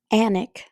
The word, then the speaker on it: Alnwick: Alnwick, as in panic. The Alnwick Rose. The L, N, W are silent.